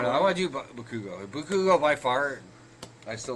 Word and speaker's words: Bakugo: no, I want to do Bakugo. Bakugo by far. I still love Bakugo. I love him. Bakugo. Bakugo? Bakugo. Bakugo. It's like Chicago, but Chicago. not. Bakugo.